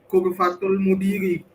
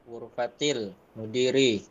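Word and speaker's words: غرفةِ المديرِ: Ana tanya ya ke Mas Dwi Saputra, Mas, bener nggak yang dibilang Mas Aldi kalau bacanya Ghurfatul Mudiri? Khoto. Yang bener apa? Ghurfatil mudiri. Kenapa kok dibaca Ghurfati? Ada huruf jar.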